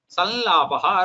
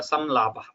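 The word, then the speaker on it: संलापः: Now you have either sanyamaha or samyamaha, samvatsaraha or samvatsaraha, sanlapaha or samlapaha. Get it?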